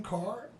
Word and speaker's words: Kahr: spell you in it because it has a silent H it's pronounced car but it's ka h